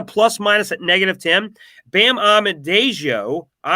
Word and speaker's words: Adebayo: Bam Adebayo, how do you say that? Say that 10 times fast. Adebayo, that's a better way of saying it. Adebayo, -11.